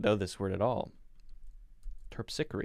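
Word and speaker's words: Terpsichore: means i don't know this word at all terpsicary it's going to be my guess pronunciation here we go terpsichory yes yes what does it mean the muse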